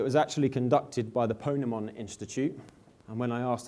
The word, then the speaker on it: Ponemon: And when I asked how do you say that, someone said, think Pokemon. So that's how I remember how to pronounce it correctly. But in any case, the Ponemon Institute is completely impartial, even though this was a sponsored study by IBM.